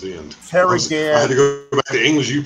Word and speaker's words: Ghan: G A H N, Gan. That's how it's pronounced. Prefix, suffix, okay, it's at the end. Ferry Gan.